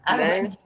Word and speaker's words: Armony: Eu pronuncio a francesa. Harmonie, né? Harmonie.